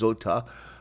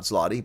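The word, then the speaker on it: złoty: It's Zota, not Zloty.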